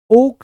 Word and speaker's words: ochre: इसकी स्पेलिंग मैं आपको बता दूं, OCHRE, ओका, OCHRE। तो आपको गेरुआ रंग के बर्तन मिलना शुरू होते हैं, OCHRE। ठीक है, ओका इसका प्रोनाउंसिएशन होता है।